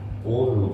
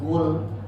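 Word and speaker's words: قُلْ: Qul huwallahu ahad. Jangan kul, kalau kul berarti makan.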